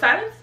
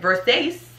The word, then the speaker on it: Versace: in several rap songs and it's moment of versace okay have you been saying versace a lot of people say versace um a rapper that will forever be nameless said versus that's like i was like did he mean